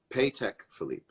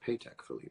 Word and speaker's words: Patek Philippe: world's most baller mirror pay tech Philippe is that true it's pronounced paycheck Philippe well I've been seeing